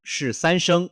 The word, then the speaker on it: 更: Ten en cuenta que "更" (geng) y "快" (kuai) están ambos en el tercer tono. Cuando se pronuncian dos terceros tonos juntos, "更" cambia al segundo tono, haciendo que suene más como un segundo tono.